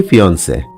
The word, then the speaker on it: fiancé: দুটোর উচ্চারণই ফিন্সে।